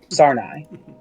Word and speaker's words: Sarnai: Sarnai. There you Yeah. go. There we go. Yeah. I misspelled it this last time, and it really threw me off. Most likely, Sarnai is down there in a nest near a